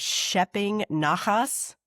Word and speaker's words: shepping naches: This was in a different chapter, I think, talking about Simchad celebration, the idea of schepping nachas. Am I pronouncing it?